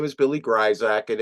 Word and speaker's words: Grisack: c k uh but the S is pronounced like a z so it's just weird you know shot you know it's like you know GAC whatever but uh yeah